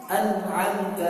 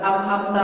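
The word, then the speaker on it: أنعمت: An'amta alaihim, bukan dibaca am'amta alaihim, dibaca gitu.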